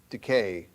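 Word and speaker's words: δίκη: That's how it's pronounced, decay, which means judgment, punish, or vengeance.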